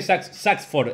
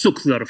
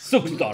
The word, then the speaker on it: Sucksdorf: Saxford, es, ayúdame a pronunciarte bien el apellido. Hola, ¿cómo están? Zuckdorf. Zuckdorf, Todo, todas ahí las está.